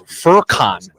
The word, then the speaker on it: Furkan: Because his name is I looked up the pronunciation. It's Furkan.